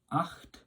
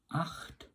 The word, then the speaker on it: acht: 8 is acht, acht. Remember, it's coming from the back of the throat with the CH sound.